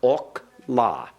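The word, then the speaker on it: אָכְלָה: And this one, notice the first comments is in a closed, unaccented syllable. Therefore, it is a kametz hatuf. It has an O sound, ok, la. Ok, la. Ok, la. Remember, the accent goes on the final syllable.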